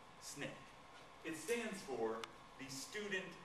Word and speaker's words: SNCC: to form their own group that group became Snick that's how you say that you would not say the n CC people would either think you were a square or a Nar all right it's pronounced Snick Snick it stands for the Student Nonviolent Coordinating Committee